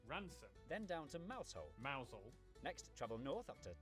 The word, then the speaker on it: Mousehole: over to rampusham ransom then down to mousehole mausol next travel north up to tower sester toaster